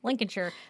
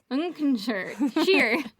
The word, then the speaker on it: Lincolnshire: They probably don't pronounce the L or the Lincolnshire. Lincolnshire, England. Lincolnshire. Lincolnshire, England. God damn Lincolnshire, it. England. Every time. Listen. We're never going to get it right. She said everything with Shire is pronounced sheer, Sheer.